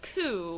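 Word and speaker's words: 九: Four is sometimes pronounced she, which is also the word for death, and nine is also pronounced coup, which can mean suffering.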